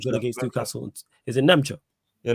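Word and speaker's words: Nmecha: I can't even pronounce my man's name. I thought he looked good against Newcastle. Is it Nemcha? Yeah, Nemcha, yeah.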